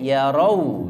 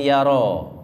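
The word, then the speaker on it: يَرَوْا: Awalam yarau, hati-hati yarau pakai wawu nggih. Yarau, jangan yaro. Maknanya beda. Yaro satu orang, yarau banyak orang.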